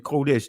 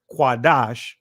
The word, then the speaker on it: Kodesh: Kodesh instead of Quadash, Kodesh is German pronunciation.